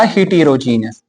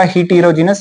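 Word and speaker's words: heterogeneous: दूसरा हिटेरोजीनियस। होमोजेनियस mixture. और दूसरा हिटेरोजीनियस या हेटेरोजीनियस। जो भी आप बता दो।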